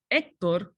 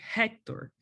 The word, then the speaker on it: Héctor: friend that is called Héctor, we don't say Hector. That will be in English. In Spanish, our H is silent, therefore we call it Héctor.